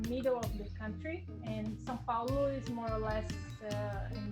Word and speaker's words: São Paulo: Can you spell the name of your city because it's not pronounced the way it looks? Okay, it's Saopaulo. And that would be for English speakers, St. Paul? Yes, it would be, but we say São Paulo.